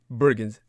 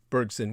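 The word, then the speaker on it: Henri Bergson: andrey bergens bergson would probably the best be the best french pronunciation of his name whitehead rejects such a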